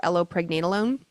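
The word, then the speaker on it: allopregnenolone: So, what happens is progesterone breaks down into a metabolite called allo, not like the plant, but it's spelled a l l o allo pregnenolone.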